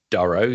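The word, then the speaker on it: Durow: uh yeah my name is Duro commonly pronounced as Duro so actually uh the pronunciation of names would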